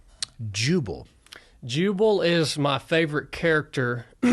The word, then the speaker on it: Jubal: So Pretty close to gerbil.